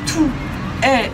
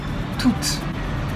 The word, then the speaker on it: toutes: le prononcera tous, et s'il est féminin, on le prononcera toutes, avec un S à la fin, mais qu'on n'entend pas, toutes.